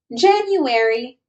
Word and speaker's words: January: There is a little Y sound after the N in January. So we say January.